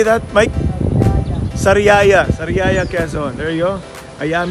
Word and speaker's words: Sariaya: Sariaya Quezon.